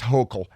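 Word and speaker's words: Hochul: governor of New York a Democrat is Kathy hokel it's pronounced hokel and um she's sending the National Guard to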